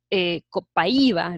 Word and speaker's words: Copaiba: Como sabes, el Copaiba, realmente es la pronunciación Copaiba, se extrae de los bosques del Amazonas en Brasil.